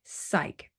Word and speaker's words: psych: PS y c k psych PS y c k but we don't pronounce the P or for example my